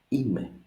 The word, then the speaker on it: είμαι: Practically, if we remember correctly our diphthongs from the other videos, it's E and E. So it's just 2 syllables. Είμαι, είμαι.